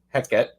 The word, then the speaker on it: Hekate: and um Kaylee said I've heard it pronounced without the a at the end too heck it so so heet tends